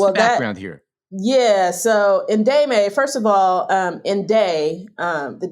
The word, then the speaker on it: Ndemay: I noticed, and I don't know how to pronounce it, N D E M A O A, Demay Media Group. Ndemay, yes.